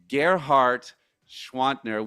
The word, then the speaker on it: Gerhard Gschwandtner: heroes and I know he's one of yours, Ghart Schwantner. We are Welcome to Leadership Live. Thank you for pronouncing my name.